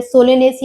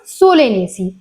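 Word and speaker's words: Solanaceae: मिलेंग उनमें ना आपको जब आप उनको प्रोनाउंस प्रोनाउंस करेंगे तो आपका एसी आएगा लास्ट में जैसे माल्वेसी और सोलेनेसी ठीक है सेकंड अगर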